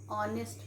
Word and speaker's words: honest: H is silent here. Then children, the girl he is an honest man.